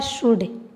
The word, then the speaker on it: should: दूसरा है शुड। SHOULD, इसको हम पढ़ते हैं शुड। एल हमारा क्या रहता है, साइलेंट रहता है।